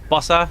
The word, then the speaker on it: Bossa: Bossa Studios, am I pronouncing that correctly? Yeah.